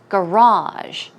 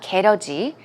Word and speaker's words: garage: Now, the pronunciation is garage. Garage, as you see here, it's not 게러지, it's garage.